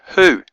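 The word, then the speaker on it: הוא: he V ala and the V is a shur it's a u sound so this is the word uh in Hebrew who so hey sharik Alf is the word who which means in English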